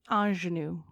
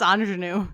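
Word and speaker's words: ingénue: think about it because it's spelled i n g n u e and then I'm like in in I'm like no that's Anu okay so for the other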